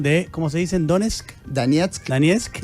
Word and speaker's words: Donetsk: Donetsk, Donetsk y Lugansk. Y Lugansk, ahí lo pronuncias muy bien.